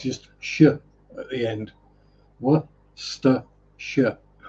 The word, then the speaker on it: Worcestershire: Worcestershire. Never let it be said that the English don't add extra letters that don't need to be pronounced.